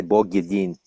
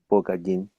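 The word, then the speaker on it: Бог един: In Slavonic or Russian, you would say Bog Yedin. That means God is one. Bog Mm. Yedin. Bog Adin.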